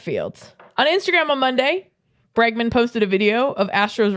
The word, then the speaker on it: Bregman: We don't know how to say it. It's Bregman.